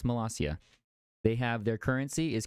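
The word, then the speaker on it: Molossia: population what and it has a president it's malasia not Malaysia it's pronounced massia they have their currency is cookie dough I'm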